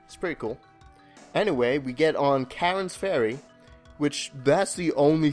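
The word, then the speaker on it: Charon: arms in anyone's head if you know a karen and Greek mythology at all and obviously that's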